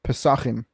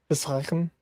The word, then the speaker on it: Pesachim: with the Jewish pronunciation, it's Pesachim. Pesachim.